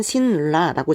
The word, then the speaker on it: 신라: 고구려 백제 신라가 있죠 적기는 신 라라고 적지만 우리는 발음을 할 때 너무나 자연스럽게 신라라고 발음을 합니다 그 이유는 뒤에 있는 리의 영향으로 앞에 있는 리은이 요렇게 리을로 바뀌었기 때문인 거죠 그래서 뒤에 있는 애